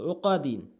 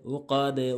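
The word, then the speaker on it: عُقَد: নাফাসাতি, ফালাম জের ফিল আইন ফিশ কব জবর ক দাল জের ওকাদিন, এখানে কিন্তু নিচের দিকে সাউন্ড হবে, ওকাদে ওকাদে ওকাদো না কিন্তু ওকাদে।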